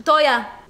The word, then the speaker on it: teuer: Toya. Yeah, that's how you write it. Teuer. Toya. No, Teuer.